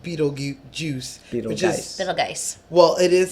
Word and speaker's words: Betelgeuse: red star in Orion's constellation which is called Betelgeuse nice well it is spelled be ete LG e use2 juice so